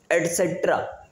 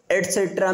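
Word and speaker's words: etc.: इज the full form of ई टी सी, एट्सेट्रा, okay, एट्सेट्रा means आदि, इत्यादि एंड सो ऑन, इसी तरह से कई, क्लियर.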